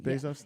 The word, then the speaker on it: Bezos: the way to pronounce his name. Bezos?